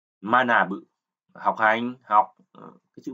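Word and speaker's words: 学ぶ: Bưng gạc cự, văn học Đấy, chữ văn và chữ học, bungaku và chữ này đứng một mình, âm cưng thì chúng ta đọc là manabu, học hành, học.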